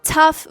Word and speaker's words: tough: Тому слово tough вирішило, що треба повернути собі своє історичне коріння і вимовляти gh. Тому ми його вимовляємо як f. tough.